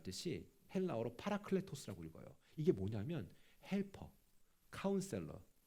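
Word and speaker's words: παράκλητος: 이 보혜사란 말 뜻이 헬라어로 파라클레토스라고 읽어요.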